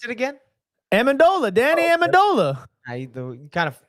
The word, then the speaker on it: Amendola: So Pronounce it again. Amendola, Danny Amendola. You kind of go ahead. You good, man? Yeah, he botched it that first one. Right. He did. He botched it. Danny Manamola.